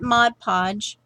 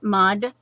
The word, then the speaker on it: Mod Podge: now because I you I used the matte Mod Podge okay Maude I said it right mod podge so in